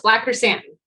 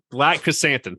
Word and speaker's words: Black Chrysanthemum: I'm pronouncing this right, so tell me if I pronounce it right or not, but Black Chrysanthemum? Close, Black Chrysanthemum. Black Chrysanthemum. Thank you very much.